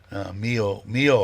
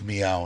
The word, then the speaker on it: Meow: I think did I pronounce it wrong in my video in the beginning, right? Mio, I think I called you so. And it's meow in case anybody wants to know.